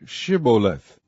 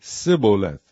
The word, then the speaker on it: Shibboleth: If he said, Nay, then said they unto him, Say, Shibboleth. And he said, Sibboleth, for he could not frame to pronounce it right.